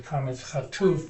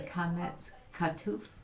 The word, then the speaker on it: kametz chatuf: So now it's a closed, unaccented syllable, and this kametz becomes a kametz chatuf, which goes o. Oh, so that's a kametz katuf?